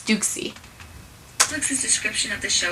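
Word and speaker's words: Douxie: Oh my gosh, I call him Deuce. Okay, but you know, after I learned how they pronounced it, it's Dukesy.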